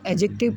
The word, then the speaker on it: adjective: तो एडजेक्टिव, इसको एडजेक्टिव पढ़ना है, इसमें डी साइलेंट होता है एडजेक्टिव।